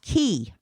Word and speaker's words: Quay: saying, "Oh, I love Quay." I was like, "Wait, I have to ask them, the people that work here. It's pronounced Key. Key? Key, like the Florida Keys.